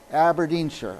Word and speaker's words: Aberdeenshire: you say aberin Shire how do you say the name aberin Shire aberin Shire okay yeah thank thank